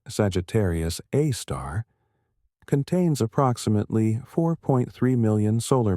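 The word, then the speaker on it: Sagittarius A*: The super massive black hole at the Milky Way's center called Sagittarius, a star, pronounced Sagittarius, a star, contains approximately 4.3 million solar masses within an event horizon roughly 12 million miles in diameter.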